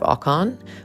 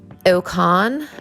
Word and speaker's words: Ocon: jog for them um we heard some amazing pronunciations of ocon with ilkhan and also aircon the americans and british absolutely just butchering his name uh watching the track